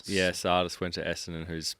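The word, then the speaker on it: Tsatas: four uh Elijah how do you say it Sardis yeah Sardis went to ESS and who's pick five hasn't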